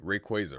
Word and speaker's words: Rayquaza: job uses adobe pronounce pronounce rayquaza the better way rayquaza right that's how you actually say it okay enough dawdling uh